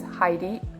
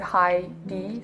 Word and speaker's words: Heidi: my pen name is Heidi you pronounce it high D so it's like hi like hello Hi and then D like the letter D so it's yeah it's Heidi and my last question